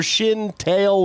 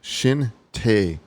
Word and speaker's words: Shin Tae: What'd you say his name was? Shin Tail? Tail? Shin Tae the second.